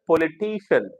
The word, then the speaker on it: politician: On which syllable should the primary accent be marked in the word politician? Politician, ta sound. Ta sound. So, which syllable? Politician, third syllable.